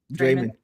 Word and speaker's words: Draymond: Organic says she pronounces it the way we say Raymond. Draymond.